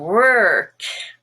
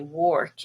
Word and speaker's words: work: in word world and work that's a very common mistake to say work instead of work and notice how i'm rounding my lips when i say that if you get